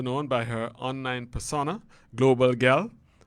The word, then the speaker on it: Global Gyal: She is better known by her online persona, Global Gyal. Did I do that right, Alyssa? You did. Not many people outside of the Caribbean do, so it's nice to hear it pronounced correctly.